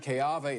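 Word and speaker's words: Keawe: In Polynesian pronunciations, the W is pronounced like a V. Okay. So it's really Jaren Keave.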